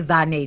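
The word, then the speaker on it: Zhané: Oh, look, because I say Zane child. I don't never be saying it, pronouncing that shit like no goddamn J. Zane, bitch. ZH Zane.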